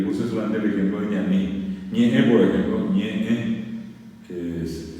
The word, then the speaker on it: ñaní: Una palabra que es guaraní, que se usa en muchos lugares, acá a lo mejor menos, es ñaní.